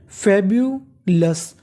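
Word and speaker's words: fabulous: फेब्यूलस, अब देखिए इस मीनिंग के आखिरी में लिखा है OUS। अगर आपको इंग्लिश में कहीं पर OUS लिखा मिले तो उसे पढ़ना है हमें अस। क्या पढ़ना है? अस।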